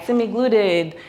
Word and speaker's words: semaglutide: Semaglutide, semaglutide, semaglutide. We hear every pronunciation. Well, this is semaglutide, and it's beautiful.